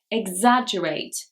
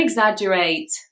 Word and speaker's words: exaggerate: Here, the stress is actually on the 2nd syllable. Exaggerate. Leila, don't exaggerate.